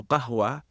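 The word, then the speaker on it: قهوة: Even now, the word coffee, the way it entered the English lexicon is, Turkish people have a hard time pronouncing the Arabic letter waw. So qahwa becomes kahfa.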